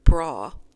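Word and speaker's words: braw: First, we have the word bra, which is spelled B-R-A-W.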